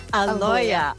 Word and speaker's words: Aloia: Aloia.